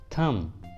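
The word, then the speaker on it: thumb: थम, थम, इस वाले इंग्लिश वर्ड के लास्ट में भी बी है और बी के जस्ट पहले एम है तो बी को प्रोनाउंस नहीं करेंगे, इसलिए प्रोनाउंसिएशन होगा थम।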